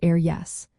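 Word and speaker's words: ar dheis: pronounced air clay, and ar dihis, meaning on the right, pronounced air yes.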